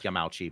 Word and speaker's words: Yamauchi: of his death and some of those very clearly pronounced his name yamachi as well so I I think the family did pronounce it yamachi but it's I I